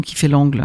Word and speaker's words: Kifailangle: Dans l'orthographe de la Maison qui fait l'angle, ça s'écrit K-I-F-A-I-L-A-N-G-L-E.